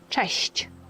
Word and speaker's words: cześć: Cześć.